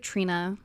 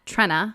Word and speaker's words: Trenna: I don't I feel like Trina is not that, you know? It's Trenna. Yeah, Trenna. If you spell it that way, I'm going to say it that way.